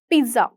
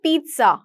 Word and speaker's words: pizza: अच्छा मैंने पिज्जा order किया है, अब आप पिज्जा खाते हो, आप पढ़ते हो PIZZA, आप बोलते हो पिज्जा, बट इसका सही प्रोनाउंसिएशन होता है पिज्जा, टी होता है पिज्जा।